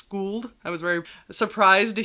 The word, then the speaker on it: Skuld: Another thing was Skuld, which that's how it looks like you would pronounce it, Skuld, but it's Skuld.